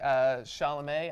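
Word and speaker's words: Chalamet: by your name yet but I know Timothy sha'lame I think it's pronounced has been getting a lot of buzz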